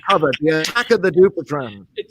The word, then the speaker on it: Dupuytren: And for the correct and I'm impressed so much by your correct pronunciation, which Alan just asked me about, which is Dupuytren. Dupuytren.